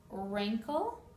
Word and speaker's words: wrinkle: unexpected sound there are several words that have a silent W the W is not pronounced wrist right here your wrist wrestle like the sport of wrestling wrinkle and sword wrestling is